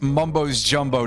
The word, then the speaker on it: Mumbo's Jumbo: But no, in this case, I pronounce it as Mumbo's Jumbo to be the plural of Mumbo and his full name in this case, because I want to underscore the fact that it's kind of racist.